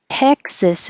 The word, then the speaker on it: Texas: Texas has the vowel. As in head, and also like mess. So if you say don't mess with Texas, which is on all their highway signs that mean don't litter, don't throw things out on the highway. It's the same vowel, mess and Texas. It looks like as, but it sounds like is.